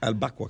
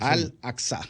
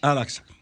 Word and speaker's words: Al-Aqsa: Hay una mezquita ahí, la mezquita de Al-Baqwa, creo que es. Al-Aqsa. Al-Aqsa. Sí, es así que se pronuncia.